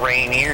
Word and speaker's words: Rainier: Well, nobody ever screws up Rainier either. Rainier, maybe. No, they do. No, haven't you ever watched the news? Anytime anything's the few times that there actually is something on Rainier.